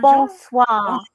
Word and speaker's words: bonsoir: Bonsoir.